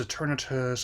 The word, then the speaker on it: Eternatus: of the power eternatus apparently been pronouncing pronouncing that one incorrectly as well it's eternatus I was saying it before this episode eternatus one oana's guards